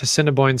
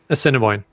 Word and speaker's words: Assiniboine: How do you say that? Assiniboine. Assiniboine. Oh, so Cinnabon.